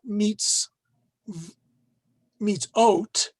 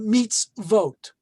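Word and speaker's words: mitzvot: the plural form of mitzvah and it is pronounced not meets meets oat which you normally would think it would be but meets vote uh in modern hebrew spelling israeli spelling they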